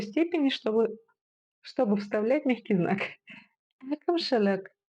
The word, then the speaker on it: әкімшілік: Әкімшілік. Попробуйте сделать легкую полуулыбку и кончиком языка упереться в нижние зубки. И уже, исходя из этого, произносим нечто среднее между буквами и и.